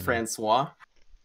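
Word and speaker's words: François: what's that go with it's pronounced Francois Franny with Frannie and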